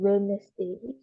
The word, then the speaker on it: Wednesday: He plays soccer on Wednesday. Ini cara bacanya kayak gini nih.